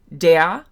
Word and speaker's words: der: It's not der. It's not d. It's not d. It's de. And that vowel sound is similar to the American English schwa, which is uh uh it's just that very neutral vowel sound with your mouth in a very um neutral resting position.